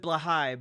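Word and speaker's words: Blåhaj: Mini Blahaj? Indeed, Kenny Jackson. And apparently you're supposed to pronounce it Blahai, but I'm not doing that.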